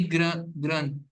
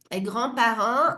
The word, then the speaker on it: grands-parents: Mes É, grands-parents ne prononcent ni le D, ni le T, et ni le S du pluriel.